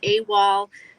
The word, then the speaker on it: AWOL: dukes comics yes so awol um pronounced a wall it's a military term